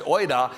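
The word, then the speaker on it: οἶδα: See, the word used here in the Greek is a word, it's pronounced oida, and it means if you understood.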